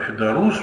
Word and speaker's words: ФЕДУРУС: Ну вот на тему, что дорогое решение Федорус, мы все-таки ударение на последнем слове делаем.